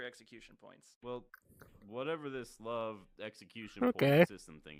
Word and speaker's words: LV: Actually, it's not pronounced level, it's pronounced love.